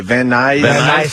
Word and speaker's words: Van Nuys: It's a local commercial out of how do you say Van Nuys, California. Van Nuys, California.